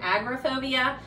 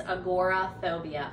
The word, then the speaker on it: agoraphobia: aj finn i know i kept stumbling over agoraphobia i think i called it agrophobia so just making that correction it's agoraphobia and i apologize i'm